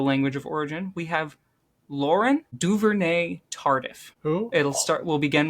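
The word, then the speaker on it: Laurent Duvernay-Tardif: Lauren Duivere Tardif. That is correct. Let's go spot the silent t at the end of Laurent is a tough.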